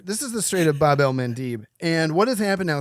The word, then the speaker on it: Bab el-Mandeb: We're going to the Strait of Bab el-Mandeb. And I got that pronunciation right with our producers before Seena got sick.